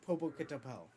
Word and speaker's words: Popocatépetl: The mountain's name is Popocatépetl.